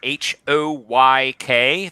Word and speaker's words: Hoyk: at th e underscore h o y k that's the phonetic pronunciation of my name hoyk and uh i do